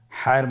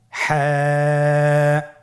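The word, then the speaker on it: ح: হা হরফটি কীভাবে উচ্চারিত হবে? হা হরফটি উচ্চারিত হবে কণ্ঠনালীর মধ্যখান হতে। গলা চিপে ধরে আপনি উচ্চারণ করুন। আপনারা আমার সাথে বলুন হ্যাঁ।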